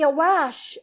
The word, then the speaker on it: awash: shouted, "All Bruntsea be awash, awash," sounding it so as to rhyme with lash.